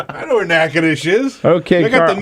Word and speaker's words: Natchitoches: minute wait a minute Natchitoches nothing sounds like how it's spelled in Louisiana bill says is that near New Orleans all right I know where nakanish is okay we got